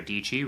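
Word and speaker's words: Dietschy: like branding perspective but Sarah dii rhymes with pachy she does an excellent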